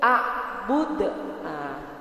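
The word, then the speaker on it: أعبد: Ya Bu, huruf terakhir ada dal. Nah, dalam ilmu tajwid, dal itu termasuk salah satu huruf qalqalah. Huruf apa Bu? Qalqalah. Ya Bu ya. Nah, Ibu bacanya itu harus mantul. Harus dipantulkan. Dikembalikan kembali bacaannya Bu.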